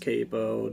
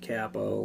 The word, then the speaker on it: capo: this is called a capo and uh it's pronounced capo not capo like i've been doing it for 20 years